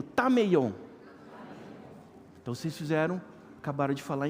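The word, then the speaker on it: ταμεῖον: Essa palavra lugar, que as traduções, a maioria traduziu como quarto, é uma palavrinha grega que se pronuncia tameion. Então repete comigo, tameion.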